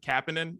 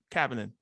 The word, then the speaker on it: Kapanen: how to say his name, but is it Kapanen? Is that how you say it? Yeah. Kasperi Kapanen, yeah.